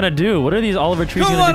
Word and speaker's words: Oliver Tree: And I'm not saying Oliver Three. I'm saying Oliver Tree. Oliver Tree. Yep, because that's how we pronounce it.